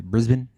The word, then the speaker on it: Brisbane: Brisbane?